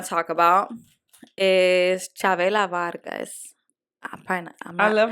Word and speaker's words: Vargas: So the other one I want to talk about is Chavela Vargas. I love how she be like saying it mad Spanish. Chavela Vargas.